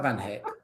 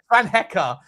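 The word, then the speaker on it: Van Hecke: No, I said if you sign a player like Van Hick or Sessi or Robertson, by the way, Van Hecka. So, your analysis hasn't learned how to pronounce his name.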